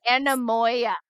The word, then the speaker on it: anemoia: Yeah, Anemoia. So the Anemoia? pronunciation is Anemoia, and it is nostalgia for a time you've never known. Anemoia.